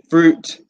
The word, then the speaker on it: fruit: the different categories fruit watch the pronunciation fruit juice Tom Cruise fruit fruit vegetables Shelley